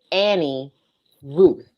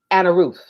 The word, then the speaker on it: Annie Ruth: Her name is Annie Ruth. In the South, we say Anna Ruth.